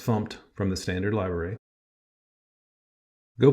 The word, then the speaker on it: fmt: using a package called fmt usually pronounced fumed from the standard Library